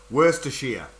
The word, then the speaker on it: Worcestershire: We pronounce it Worcestershire. We pronounce Shire as shear, like shearing a sheep.